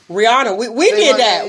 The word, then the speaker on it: Rihanna: That same thing with Rihanna. Yeah, some say Rihanna, some say Rihanna. She says it's Rihanna. I believe it's probably Rihanna. Like, stop calling me what ain't my name. Rihanna.